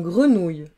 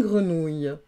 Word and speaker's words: grenouille: Et puis le son OU, il peut être aussi au féminin, donc il va s'écrire O-U-I, deux L-E, ouille, comme dans grenouille, une grenouille.